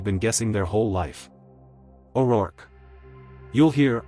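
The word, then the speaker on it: O'Rourke: The common corrected English pronunciation is basically two beats. O R U R K. Like work, but with an R sound at the front.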